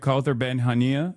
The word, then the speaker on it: Kauthar Ben Hania: And today we have Kauthar Ben Hania.